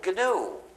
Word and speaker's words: gnu: the English language because according to the dictionary the g is silent so the word is